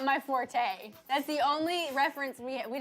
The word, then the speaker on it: forte: and google you say you don't say forte you say fort that's not my fort